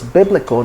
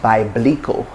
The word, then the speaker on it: biblical: the word biblical biblical so it's biblical not by blicko not biblical not not